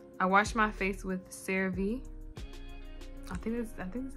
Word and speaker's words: CeraVe: I wash my face with CeraVe. I think that's how you say it. CeraVe.